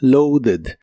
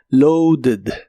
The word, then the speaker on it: loaded: en el pasado es loaded usa una eed y aquí Sí suena la e Aunque muy suave loaded lo lo puedes usar